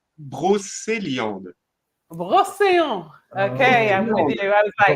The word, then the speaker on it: Brocéliande: region, and they're from Brocandel. No. We call it pronounced Brocéliande.